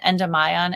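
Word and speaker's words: Endymion: Um, Seline and and Demian, although we do we do pronounce it endion in the song. It has to rhyme with lie down.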